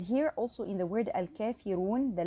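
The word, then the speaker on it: الكافرون: So we say al-kafiru because here the ra carries dhamma, so it's pronounced heavily.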